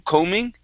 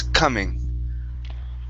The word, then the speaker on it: coming: coming from a car instead of co combing it's coming a loud screech coming from